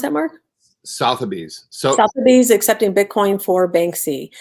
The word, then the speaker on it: Sotheby's: How do you pronounce that, Mark? Sotheby's.